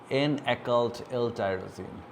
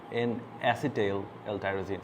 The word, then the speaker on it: N-acetyl L-tyrosine: Is N-occult L-tyrosine here. So you can see. Ulta lekha, but N-acetyl L-tyrosine. Sorry, I pronounced it wrong.